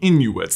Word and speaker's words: Inughuit: The people in question here are the Inuits. That's Inuit, I-N-U-G-H-U-I-T, which as far as I can tell is pronounced the same way, but if you can correct me, please do so in the comments.